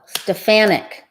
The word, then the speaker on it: Stefanik: stefan nicky at least stuff in icky oh stefanik okay whatever i think she's still stuffy wow